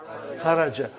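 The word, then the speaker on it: خرج: Say it properly. Kharaj. With sukun. You won't say with. You will say kharaj.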